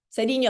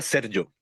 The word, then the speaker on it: Sergio: Seriño, estoy como Serio, serio. ¿Cómo es tu nombre? No sé pronunciarlo. Ya, se pronuncia Sergio.